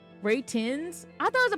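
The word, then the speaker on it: Retinz: It's like retins, but it's like I think it's supposed like retin retin. No, it's a pun on ratings. Ray tins. Ray tins.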